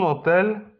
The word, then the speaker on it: hotel: Samo H w hiszpańskim jest zawsze nieme. Un hotel, un hospital.